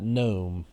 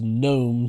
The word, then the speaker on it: gnome: the name of that gnome however we will spell it with a g a silent g because gnome starts as spelled g-n-o-m-e and the g is silent so who uh what